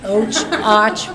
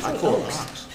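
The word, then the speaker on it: Ochs: It's Och, we all spell it, O-C-H-S. I say Oaks.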